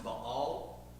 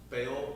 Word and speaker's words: Baal: God changed to Yahweh so for example uh baale we're going to talk about that in the Bale this morning um here's another fun fact for you technically the name Bale is pronounced B all not Bale but in Century America you just sound stupid